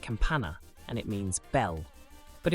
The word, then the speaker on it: campana: here is a good example this word is pronounced Campana and it means Bell but if we add